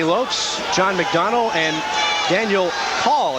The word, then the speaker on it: Cahill: The officials for this evening's contest, Tommy Lopes, John McDonnell, and Daniel Call, it's pronounced, spelled as Cahill, pronounced as Call.